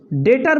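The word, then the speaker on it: debtor: Branch डेटर बोला जाता है, बी साइलेंट रहता है, डेटर्स अकाउंट।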